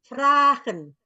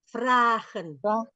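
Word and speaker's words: vragen: saya bertanya question question frahen frahen tulisannya V r a Fren satu anyaanya satu tetapi dipanjangkan di itu nanti ada itu ada teori nanti saya Terangkan sebentar ya oke oke Fren oke ya tapi dibacanya betul ini apa e apa namanya jeli sekali ininya apa penangkapannya Kenapa ditulisnya sat dibacanya dua bagus nanti saya baca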